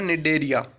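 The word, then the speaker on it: Cnidaria: अब phylum Coelenterata पढ़ रहे थे, हम पढ़ेंगे सिलेंट्रेटा मतलब इसका दूसरा नाम है निडेरिया। निडेरिया सी साइलेंट हो जाएगा बोलेंगे तब।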